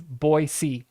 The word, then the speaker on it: Boise: what is this so so most people will say Boise and you will get corrected it's boyy it's it's very speciic boy Bo yeah um